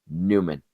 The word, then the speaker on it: Nyman: That's the way it's spelled, Nyman, but he's a Newman.